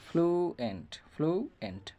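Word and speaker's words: fluent: যেমন হচ্ছে আমরা যদি একটা উদাহরণ দিই, ফ্লুয়েন্ট এখানে এফ এল ইউর আগে কিন্তু এল রয়েছে, তাহলে এল থাকার কারণে ইউর উচ্চারণ দীর্ঘস্বর হবে ফ্লুয়েন্ট।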